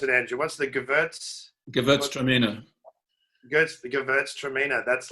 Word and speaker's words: Gewürztraminer: And I've forgotten how to pronounce it, Andrew. What's the Gewürztraminer? Gewürztraminer.